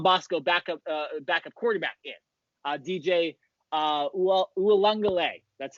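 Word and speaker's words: Uiagalelei: John Bosco backup quarterback in DJ Ualungale. That's how you pronounce. That's how you pronounce his name.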